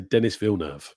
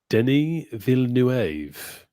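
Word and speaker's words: Denis Villeneuve: I don't know if we've been saying his name wrong oh yeah see I always say Dennis V yes same I heard him being called Denny V nuev oh very fancy very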